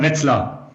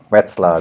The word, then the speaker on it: Wetzlar: Welcome from Wetzlar. Wetzlar, there we go.